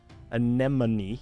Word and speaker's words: anemone: Abyssal anemone that's cool uh deep sea anemone anemone yes I'm saying it right that's one of